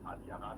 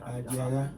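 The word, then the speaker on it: Adiaha: So our first daughter, so the barrister got the pronunciation wrong, Adiaga, not Adaya. Adiaga. Don't mind me, sir. Adiaga. Adiaga, A-D-I-A-H-A, Adiaga.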